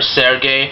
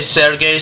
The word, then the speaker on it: Serge: It's either pronounced Serge or Sergey. I'm going to say Sergey since that's the way it's pronounced in Russian and such, but either way is correct.